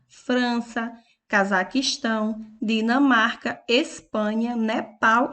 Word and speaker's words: Nepal: Nepal. Nepal tem a última sílaba tônica, por isso é oxítona. E por último, Irã, que